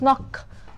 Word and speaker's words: knock: important pronunciation rules is the K followed by and at the very beginning of the word the K is silent kill my team that